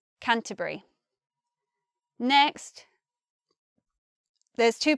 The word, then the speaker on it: Canterbury: to university in Canterbury I say it like that with three syllables but some people might say Canterbury Canterbury I think the most common pronunciation is just with the three syllables Canterbury next those two pronunciations